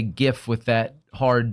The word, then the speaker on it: GIF: It's like you saying fucking GIF. Oh, and yeah, because that's how you pronounce it.